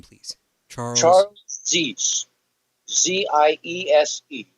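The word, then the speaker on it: Ziese: Z-I-E-S-E, pronounced Zies.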